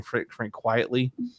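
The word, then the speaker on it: Frank Quitely: I call him Quitelli, but they say his name Frank Quietly.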